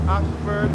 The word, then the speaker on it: Ayshford: And this Ashford is spelled A-Y-S-H-F-O-R-D.